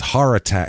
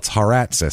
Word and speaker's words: Haratsis: It would have been or else it's Haratat. It's Haratsis, so it's not even heart. Haratsis, so it's Haratsis.